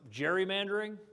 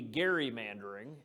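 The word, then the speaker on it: gerrymandering: everybody know the term Jerry mandering um it's actually a mispronunciation it should be Gary mandering and it started in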